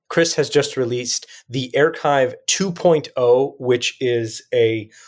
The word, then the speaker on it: Airchive: pronouncing it correctly because Jason always was like air chive because that's how it spelled like you mean like the onion you mean like like something that differ I'm like no it's achive yes I got the play on words so